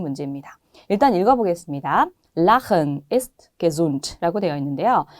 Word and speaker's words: Lachen: 앞에 무엇이 들어가 있느냐에 따라서 발음이 달라지는 그런 발음 문제입니다. 일단 읽어보겠습니다. Lachen ist gesund 라고 되어 있는데요.